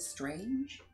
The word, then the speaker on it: Strange: What spells my name out for you, but my last name is spelled Strange. But I refused it. It's Strang.